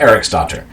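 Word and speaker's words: Eriksdóttir: neighboring kingdom, named Gytha Eriksdottir. By the way, that you'll notice with Lothbrok as well, this D with a line through it, like it's a T, that's pronounced TH because that's fun.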